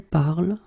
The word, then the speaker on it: parles: So it does mean that even if you write them differently, es, and then ent, you will pronounce them the same way.